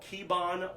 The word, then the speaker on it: Kibon: 8-move pattern called Kibon 1. It's spelled K-I-B-O-N.